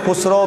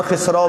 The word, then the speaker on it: خسرو: امیر خسرو بھی انہیں بولتے ہیں اور خسرو بھی بولتے ہیں, زیادہ تلفظ اچھا جو ہے وہ خسرو کا لفظ ہے.